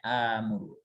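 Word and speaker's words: آمُرُ: Tapi nggak dibaca akmuru, bacanya amuru seperti itu.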